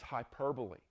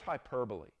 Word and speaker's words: hyperbole: know another one is hyperbole what What is hyperbole? Took me for years to quit pronounce it hyperbol.